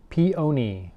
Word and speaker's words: peony: Peony, first accent on the syllable.